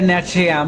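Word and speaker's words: Natrium: বাট কিছু Latin নামের ক্ষেত্রে আসলে কনফিউশন তৈরি হয়, যেমন হচ্ছে এখানে উচ্চারণটা হবে ন্যাট্রিয়াম টাইপের, যেখান থেকে হচ্ছে এন এ নেওয়া হচ্ছে,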